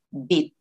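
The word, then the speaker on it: 빗: It's not bis, guys. Okay, remember? Kasi maraming mga nagtuturo na yung pronunciation is sinusunod nila yung kasi S ya, so ang nagiging pronunciation nila is bis.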